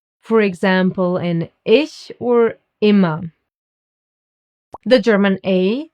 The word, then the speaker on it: ich: I is pronounced like E in German, like you would say in cheese. For example, in ich or immer.